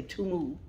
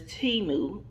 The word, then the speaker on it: Temu: Toomey I don't know I always want to say that name wrong I want to I was only want to say to move but it's timu yeah he moved I'm